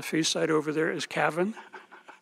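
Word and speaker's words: Cavan: Ireland and the feast site over there is Cavin it's the way they pronounce it but if you go over there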